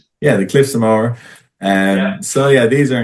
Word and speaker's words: Moher: till going to Ireland to know how to pronounce it. And it's not Moher, it's Moher. Yeah, the Cliffs of Moher.